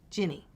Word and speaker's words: Ginny: then Jenny is it they still think it's like a a unique way to spell Jenny and that my name is which it's not but at least I get people to pronounce it is ginny then it is it's not like no no it is